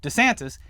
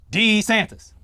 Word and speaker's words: DeSantis: watching might be aware he has two very distinct pronunciations that he uses and that's DeSantis and D Santas it's it's odd but